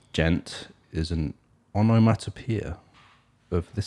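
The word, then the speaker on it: djent: has got used a lot a genre called gent i've never heard that yeah i think it's spelled d-j-e-n-t if i'm right i never heard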